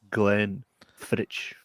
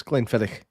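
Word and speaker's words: Glenfiddich: thingy of my favorite, one of my favorites, Glenn Fitch. Oh, 12 years. 12 years. I can't I can't let you pronounce it like that, mate.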